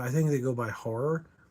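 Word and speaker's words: HO99O9: It actually looks like nines, but I think that's how they pronounce it. H9. It's HO9909, but I think they go by horror.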